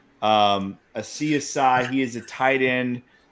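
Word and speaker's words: Asiasi: One of them being Devin, and I think it's pronounced Asiasai. Asiasai.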